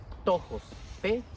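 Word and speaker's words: πτωχός: una palabrita rara que se pronuncia más o menos como tojos, tojos. Otros lo pronuncian de diferente manera, pero al final del día es lo mismo.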